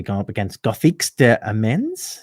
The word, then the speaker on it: Amiens: Guildford Flames are going to be going up against Gothiques de Amiens. Is that how you say it? Amiens, but close.